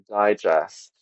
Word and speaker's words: digest: syllables of a word for example Digest we're the just as a verb in English is stressed on the sixth second syllable well as a noun it is stressed on the third syllable digest digest is the